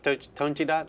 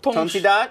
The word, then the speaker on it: Tonchidot: I'm not sure you need is that it the for French pronunciation of Tonchidot? Tonchidot. Yes. Oh, You said okay. Tonchido. Tonchido. Tonchido, c'est bon.